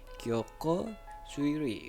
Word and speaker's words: Kyokou Suiri: Kyoko Suiri gitu ya, benar cara bacanya.